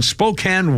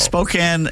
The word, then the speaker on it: Spokane: Uh 1910, the first Father's Day celebrated in Spokane, Washington. Why they pronounce it Spokane, I don't know.